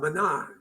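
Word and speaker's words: Mná: Her name was Sinead McCool, and Sinead had actually put together an exhibition called Mana, M-N-A, accent on the A, which means women, which is about the women of 1916.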